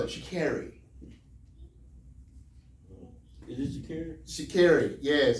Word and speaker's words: Sha'Carri: Sha'Carri, yes, it's Sha'Carri.